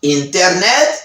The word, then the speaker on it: internet: C'est internet y international. C'est mot internet et puis international. In American accent, they said, dans accent américain, américain prononcer internet, internet, internet. Sans T à pas prononcer.